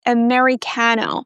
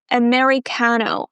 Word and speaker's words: Americano: Even though it's the letter A, we don't pronounce it as the A sound, as in apple, right? We start with the schwa. Americano.